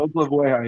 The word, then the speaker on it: Oklavoya: And the pronunciation, you said Oklavoya is how you pronounce it? Oklavoya, yeah.